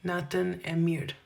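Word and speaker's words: Natën e mirë: Nathan Emir.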